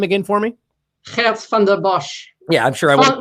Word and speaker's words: Geert Vanden Bossche: The curious case of, and please pronounce his name again for me. Geert Vanden Bossche.